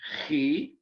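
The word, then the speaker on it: chi: throats for this letter it's c-h-i he and it's actually the first letter in the name christ and it's actually worth the idea uh or the abbreviation for xmas that some of you may have seen uh growing up it actually comes from the greek letter he ch is how we transliterate it in english not x it's not an x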